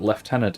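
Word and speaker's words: lieutenant: I have to assume that left tenant is not exactly a French pronunciation. That's an absurdly English pronunciation.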